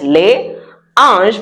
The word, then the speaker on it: les anges: It is les anges, but the French have something called the liaison, which makes their language very nice. So, les anges. It's not les anges. We do a zzz.